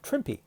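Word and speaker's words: Trimpe: The lesson I learned this past week was that um Herb Trimp, my one of my favorite artists, that's not how his last name is pronounced. Herb Trippy, that's how his name is pronounced.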